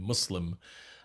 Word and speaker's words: Muslim: submitter someone who submits and that's the proper pronunciation muslim and islam with a slightly uh hissing ass